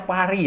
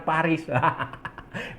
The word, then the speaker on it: Paris: Olimpiade 2024 di pari pari ya bacanya pari ya bukan Paris pari saudara-saudara 2024 dan yang